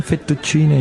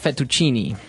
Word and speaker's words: fettuccine: mushroom sauce, but the prawn fettuccine is also very nice.